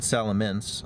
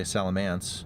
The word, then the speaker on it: Salamence: It's spelled Salamence. I know a lot of people say Salamance.